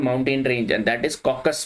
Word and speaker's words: Caucasus: range and that is caucus mountain ranges or it is being pronunciated as caucuses Caucasus Mountains see your